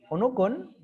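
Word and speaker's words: عنق: Sedangkan onukun tidak ada penekanan maka dibaca datar onukun.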